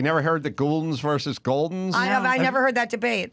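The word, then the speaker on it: Gulden's: And there was also always the controversy with Jimmy and Goldens versus Gouldens, the pronunciation of the mustard. Yeah. He would say Gouldens, I think. I would say Goldens. I always thought it was Goldens.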